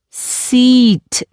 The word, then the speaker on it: seat: Do not pronounce seat. This is a seat. It's a long sound.